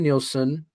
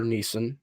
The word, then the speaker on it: Neeson: Where I like Liam Nielsen or Neeson. I always say it wrong. I always say Liam Nielsen. It's Neeson.